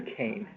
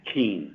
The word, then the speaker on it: Keene: Is it Keen or Kane? Keene. Keen, that's what I thought.